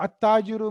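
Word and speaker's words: التاجر: The at-tajiru means businessman or trader. Aina tajiru. Now this is ta is harfu shamsiya. So I'm not pronouncing lam here. How I'm saying aina tajiru.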